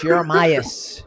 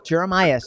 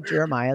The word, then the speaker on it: Jeremias: I mean, my name is Jeremias. Jeremias. They don't call me Jeremiah. The S isn't silent, but that's funny.